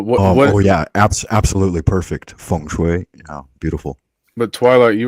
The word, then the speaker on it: feng shui: Is this the feng shui of panels? I'm pronouncing it right. But what? Oh yeah, absolutely perfect feng shui.